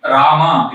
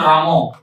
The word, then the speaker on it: Rama: Ideally, Rama is the name, pronunciation, but Bengali chant Ramo.